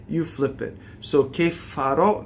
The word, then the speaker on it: farò: So che farò, not che farò, right? And O at the end, it's open O.